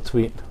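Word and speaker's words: Tvedt: him and Pastor Bill Tveit. How do you say his name? It's Tveit.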